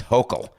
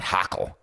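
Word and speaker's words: Hochul: day in yesterday's show it's hokel not hockle did i get it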